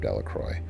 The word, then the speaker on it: Delroy: Bobby and Harry Jones and Dicky Delroy, the villagers pronounced his name Delacroy, eventually made a great